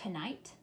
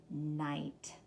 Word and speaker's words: knight: So is this going to be pronounced knight? No, it isn't. The K is silent, and what is also silent? The GH.